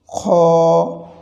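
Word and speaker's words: خ: থেকেই উচ্চারণ হয়ে যায় তবে কেউ কেউ খা বলে থাকি খা বলে আরবিতে কোন হরফ বা বর্ণ বা অক্ষর নেই এটির উচ্চারণটি হবে খ এরপরে আসুন তারপরের হরুফ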